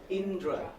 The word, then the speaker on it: Indra: my first name and it's just the two syllable Indra yes thanks very much